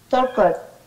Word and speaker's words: talked: Talked. Talked, right? Talked. Talked, right? This is the T sound at the end, right?